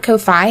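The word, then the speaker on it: Ko-fi: a little different and some folks call it coffee I call it Kofi and that's spelled KO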